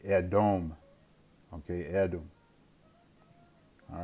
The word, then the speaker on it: Edom: Edom, excuse me, not Odom, it'd be Edom.